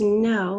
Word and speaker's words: know: So we've got that silent K like in knowledge, to know somebody, KN, and then long O at the end of the word, you know, is OW.